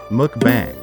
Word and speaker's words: mukbang: ramen is popular with mukbangers mukbang or live video broadcasts that happen online pronounce it mukbang many of the web's most popular mukbanging videos